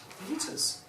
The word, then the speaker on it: fajitas: Fajitas. You know the chicken wrap, spelled F-A-J-I-T-A-S, the Mexican dish, that is pronounced fajitas.